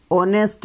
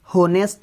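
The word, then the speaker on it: honest: देखो second example है ही इज ऑनेस्ट मैन. इसमें एच साइलेंट है. क्या साइलेंट है, एच. होनेस्ट नहीं है, ये बहुत सारे क्या पढ़ते हैं, इसको होनेस्ट पढ़ते हैं. ये होनेस्ट नहीं है, ये है ऑनेस्ट.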